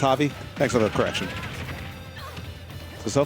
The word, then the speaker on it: Javi: Okay, it's pronounced Javi.